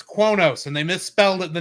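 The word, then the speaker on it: Qo'noS: And the guy couldn't figure out how to pronounce it because it's spelled Q-U''NOS. So he's going, and I just went, it's Kronos, and they misspelled it, the name of the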